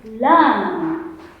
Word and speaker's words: lamb: And we put our sound la, la, and with the word The word is lamb. Remember, the last sound is silent.